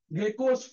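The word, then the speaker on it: GECOS: है, इसको हम लोग बोलते हैं गेको field, गेकोस field, GECHOS, गेकोस। Open source में क्या मजेदार नाम है देखो, गेकोस फील्ड, क्या स्पेलिंग है?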